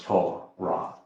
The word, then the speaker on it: Torah: Do you know that Torah derives the O sound from the Wah? It is written with a Wah in the midst of it. Even has the Hey at the end. So it's Torah. Well, that would tell you